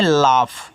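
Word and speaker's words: laugh: एल ए यू जी एच तो इसको पढ़ते हैं लाफ।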